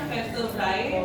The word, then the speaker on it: vertebrae: V-nya jangan dibaca V, nanti V-nya ini kepanjangan dari tulisannya vertebrae, tapi bacanya vertebrae. Karena kalau ini AE itu dibaca cuma E-nya aja, ya.